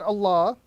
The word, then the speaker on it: Allah: So firstly, the word Allah will have a round sound, and we would apply a round sound to the word Allah when a fatha or a dhamma comes before it.